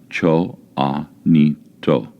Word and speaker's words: Choanito: in their language means night people and is pronounced Cho aito chanito Isabelle a 100-year-old Indian woman member of